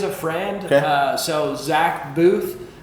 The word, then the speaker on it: Boothe: So Zach Booth. Spell it.